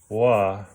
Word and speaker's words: Oaxaca: Oaxaca is spelled O-A-X-A-C-A, but it's pronounced Wa-Ha-Ka.